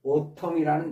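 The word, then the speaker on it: autumn: 영국에서는 오톰이라는 단어를 씁니다. N이 발음이 안 되고요.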